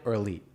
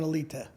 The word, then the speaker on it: Alite: So if I'm in Europe, I pronounce it correctly. When I'm in my neighborhood, it's a light or it's elite when I'm here.